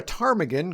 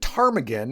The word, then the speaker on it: ptarmigan: go to the bathroom because the P is silent. Yeah. Yeah. Okay. I know. I know it's an old joke, but the word tarmaggan is actually derived from